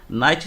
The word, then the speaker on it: knight: Knight se escreve com K, né? Mas é um K mudo, knight.